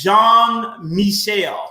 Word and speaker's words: Jean-Michel: really perfect and again it's jean-michel is how you would pronounce that that name but again i'm really